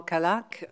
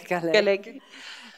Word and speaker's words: Kalak: in realtà il titolo noi lo pronunciamo kalak ma si pronuncerebbe in un altro modo che è Cal e per quanto riguarda